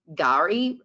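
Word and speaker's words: K'gari: Island now known as Gary spelled with a K but pronounced with a G um and this is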